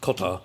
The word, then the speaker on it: Qatar: the case for Qatar, which I learned apparently is pronounced Qatar in Arabic from an Arabic speaker, but I think we'll continue to say Qatar.